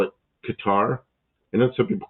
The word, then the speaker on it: Qatar: He goes, "There's no accents. There's no accent one way or the other. They just They just call it Qatar Cutter." He goes, "It's like just imagine no accent on any syllable.